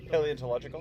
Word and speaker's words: paleontological: Paleontological? Yes, thank you. Yeah. I knew there were some extra syllables in there.